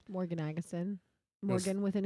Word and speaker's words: Agesen: No, Agesen.